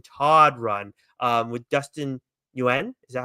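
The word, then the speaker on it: Nguyen: Now we have the Jason Todd run um with Dustin Yuen. Is that how you say it? Dustin Win.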